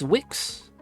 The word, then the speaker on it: Wix: I know there's no I in his name, but it sounds like that. You always pronounce it WX? No, man, it's Wix.